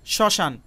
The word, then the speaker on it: শ্মশান: এখানেও খুব ভালোভাবে খেয়াল করুন, তালব্য স এবং ম ফলা যুক্ত হয়ে এই যুক্ত বর্ণটি গঠিত হয়েছে, কিন্তু উচ্চারণের সময় শুধুমাত্র তালব্য স উচ্চারিত হয়েছে, ম উচ্চারিত হয়নি।